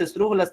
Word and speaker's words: esdrújulas: Todas las palabras esdrújulas tienen tilde. Y se dice esdrújulas porque tienen el acento en la antepenúltima sílaba.